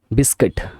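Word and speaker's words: biscuit: তার দিয়ে দেওয়া থাকে সেগুলো বলে বৈদ্যুতিক পদ বিস্কিট মানে খাবার বি আই এস সি সি ইউ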